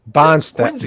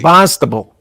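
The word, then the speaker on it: Barnstable: Bonstable. Bonstable.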